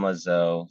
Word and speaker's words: Lezeau: you at find me on LinkedIn um lizzo first name is spelled j-o-v-i-n last name l e z e